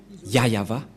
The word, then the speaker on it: Yahvah: Et donc, c'est bien la vraie prononciation de son nom, Yahva.